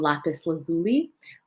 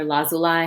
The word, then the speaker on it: lapis lazuli: hear about the stone lapis lazuli or lazolai however you pronounce it i've heard it both ways um but lapis lazuli